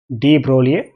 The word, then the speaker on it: de Broglie: by scientists called as d broly a society is called as d broly g is silent here d broly he proved this it